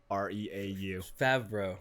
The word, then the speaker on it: Favreau: It's Favreau.